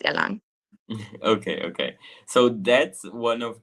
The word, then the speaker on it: Erlangen: It's pronounced Erlangen.